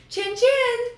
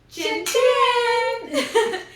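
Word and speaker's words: cin cin: and you go chin chin. And then there you go. So, we did that all night, every night. It's C I N C I N, but pronounced Chen Chen. Chen Chen.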